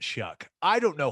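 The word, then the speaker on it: Shough: looked it up again the guy's last name is spelled s-h-o-u-g-h and you pronounce it shuck i don't know how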